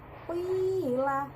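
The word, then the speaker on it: قِيلَ: Kemudian cara bacanya juga sama, 2 ketukan ya, qila. Nah, ditekan di ya-nya, qila.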